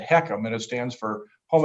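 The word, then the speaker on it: HECM: which by the way you mentioned accm we pronounced that hecam and it stands for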